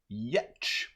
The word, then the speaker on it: Giertz: It's made by Simone Yetch, and Simone's name, last name, she's Swedish, is spelled Giertz. And from what I understand, it's pronounced Yetch.